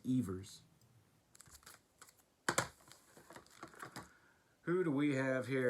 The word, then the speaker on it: Evers: All my life I thought it was Johnny Evers. Tinkers to Evers to Chance, but his name is pronounced Evers.